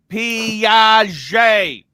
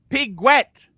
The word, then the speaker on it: Piguet: Audemars Piaget. Piaget. Audemars Piguet. Piguet.